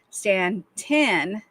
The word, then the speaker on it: Staunton: However, Staunton, Virginia, pronounced Stanton, not ton, is such a town.